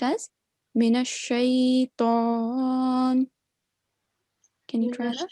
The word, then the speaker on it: شيطان: The letter Ta, make sure that we don't round it. It's a thick letter. Again, we have to round our lips, but it should just be pronounced as Mina Shaitan.